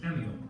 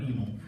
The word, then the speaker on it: Emil: looks like evil, and when I pronounce it Emil, and you go, hey, come on, Jans can't even pronounce that guy's name correctly. That's how it's pronounced, Emil. So just to make sure that everybody knows that it's Emil, not Emil.